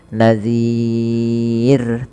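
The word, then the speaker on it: نذير: Nah, kemudian lafal ro terakhir ini rnya dibaca dengan tipis. Kita kenal dengan istilah ro tarq. Maka jangan sampai dia menebal huruf rnya. Contoh tebal gimana? Alam ya'tikum nadir. Harusnya nadir tipis saja.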